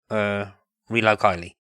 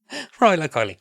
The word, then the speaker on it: Rilo Kiley: It's like Kylo Ren, Rilo Kiley. They have nothing related except for that phonic, but that's literally what I use. I've suddenly forgotten how to pronounce them again. Rilo Kiley.